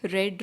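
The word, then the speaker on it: read: ये रीड की 3 फॉर्म्स होती हैं जिनमें स्पेलिंग सेम होती है तीनों की, जस्ट प्रोनाउंसिएशन डिफरेंट होती है। जैसे रीड, रेड, इसको हम रेड बोलेंगे, यहाँ पर क्योंकि ये थर्ड फॉर्म है, क्योंकि हमने इसे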